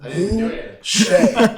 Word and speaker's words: Boucher: Once again, Boo Shay. So that's BOO space SHEA. Now, boo him as much as possible because that's what we really need. We're not doing super chats. Just boo Shay a little bit.